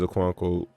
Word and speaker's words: Okonkwo: Chiz Okonkwo, yeah, I said it right.